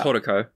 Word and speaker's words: Haruko: for the first time, which is pronounced in the movie as Haruko, and I can't. I hate it. I hate it so much. Yeah, so... Haruko. This is Horoko, probably? Yeah, it's Horoko. Which is a weird combination